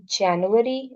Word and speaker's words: Januar: For January it is Januar, because J की जो sound है that is yacht.